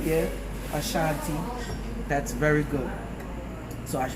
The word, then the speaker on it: Ashanti: The Ashanti, make sure I pronounce it right, yeah. Ashanti, that's very good.